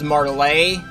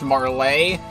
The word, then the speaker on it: Martlet: uh he he was saying her name is marlay like it's it's supposed to be pronounced weirdly and be pronounced marlay uh I did look up martlet on Google and Google tells me martlet is